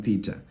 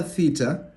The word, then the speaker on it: theta: In Greek, actually, it's called theta, not theta. However, for most of us South Africans, we say theta, theta, theta. That's why I'm saying theta. But in Greek, it's called theta.